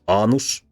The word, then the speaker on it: anus: Here, annus, short a, means a crone, that is an old woman, whereas anus, with a long a, means the butthole.